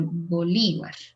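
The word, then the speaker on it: Bolívar: is a park called and the accent is in the second syllable bolivar is it where the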